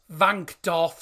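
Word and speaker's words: Wankdorf: they're playing at the van do Stadium I said it correctly because the W is actually pronounced as a v but everyone calls it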